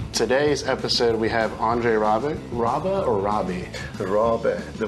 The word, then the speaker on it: Rabe: It is now Rabe. So anyone who says Rabe, no, that's not the correct pronunciation.